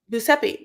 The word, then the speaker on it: Giuseppe: Giuseppe.